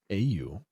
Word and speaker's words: Auril: A-U-R-I-L. It's pronounced Auril.